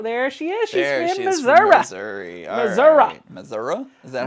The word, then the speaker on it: Missouri: she is she's Missour Missouri Missour is that how you say it off my mother my S my stepmother was from Missouri and she said it's not Missouri it's Missoura it's Missoura well for